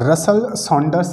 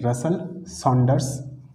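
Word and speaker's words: Russell Saunders: सबसे पहले इसको देखना कि इसको ठीक है रसल सांडर्स कपलिंग भी बोला जाता है स्पेलिंग में लिख लेता हूं यहां एक मिनट रुकना हां आर यू एस एस ई एल एल रसल सांडर्स एस ए यू एन डी ई आर एस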